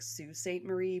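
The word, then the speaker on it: Sault Ste. Marie: like in Canada is pronounced like Sue St Marie but it's basically spelled like salt St Marie oh yeah yeah it's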